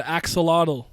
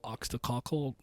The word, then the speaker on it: axolotl: I pronounced it wrong the first time I saw that word though. I think I put oxtacockle or something. Like that's not what that says.